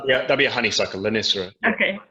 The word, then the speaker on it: Lonicera: My pronunciation, I do apologise. Lonicera natindia? Lonicera, that'd be a honeysuckle, Lonicera.